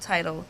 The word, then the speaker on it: Tidal: Tidal?